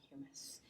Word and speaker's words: humus: I think that's more how you say it. I think you eat hummus and you walk on humus.